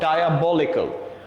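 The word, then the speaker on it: diabolical: পারসে কোন একটা ওয়ার্ড আছে, ফর এক্সাম্পল আমি যদি বলি ডায়াবলিক্যাল, দ্য ওয়ার্ড ইজ কল্ড ডায়াবলিক্যাল। আপনি যদি এটাকে বলেন ডিয়াবলিক্যাল, উচ্চারণ কিন্তু ঠিক নাই, যেহেতু উচ্চারণ ঠিক নাই আপনার কিন্তু মার্কস ওখানে ঠিকঠাক আসবে না।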